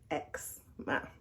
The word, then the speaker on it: eczema: Eczema. It's spelled ECZEMA, but how you say it, or how I say it, eczema.